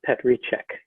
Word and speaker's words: Petříček: i was told that your name should be pronounced vat's love not love and pet recheck is that close yeah